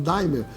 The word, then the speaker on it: D'aimer: Nós resolvemos nacionalizar a marca, a palavra d'aimer em Daimler, para que todas as pessoas possam, em qualquer parte do Brasil, pronunciar a palavra como ela é lida, Daimler, tá certo?